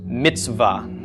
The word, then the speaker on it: mitzvah: The tzadi makes our TS or TZ. Schwa makes no sound, so nothing for the vowel sound. Vav makes a V. And then the short A of the kametz. Okay, so this would be pronounced mitzvah. So the ts and the v are sort of just running into each other. There's no vowel sound in between them.